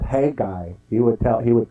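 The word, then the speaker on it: Haggai: the jewish guy Yeah a jewish scholar would tell me you pronounce it Hey guy he would he would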